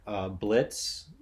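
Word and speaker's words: Blitzø: in our cast are Blitz the O is silent yeah who is uh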